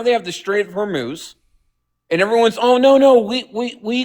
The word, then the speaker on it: Hormuz: How do you pronounce it? Hormuz, yes.